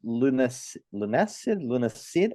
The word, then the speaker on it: Lunacid: There's Lunacid. I don't know how to pronounce. It's like lunacy with acid, lunacid.